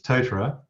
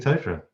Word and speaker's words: Totara: Is it Totara or Totara? That's a good question. You got to say it with a Kiwi accent, really. So it's Totara is the normal way of saying it, but there was an